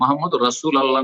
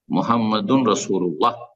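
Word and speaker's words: محمد رسول الله: মুহাম্মাদুর রাসূল আল্লাহ নাই, মুহাম্মাদুর রাসূল আল্লাহ যে পড়লেন এটা ভুল উচ্চারণ। মুহাম্মাদুন রাসূলুল্লাহ যদি শুদ্ধ পড়তে চান।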